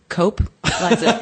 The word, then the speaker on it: Coupe: that people are like, Coupe? Eliza Coupe? Coupe? Coupe. It's Coupe. It's like the car. It's like when you would... No, it's like Coupe. It's like when you pay $10 at the pharmacy.